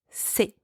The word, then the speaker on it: ces: C'est.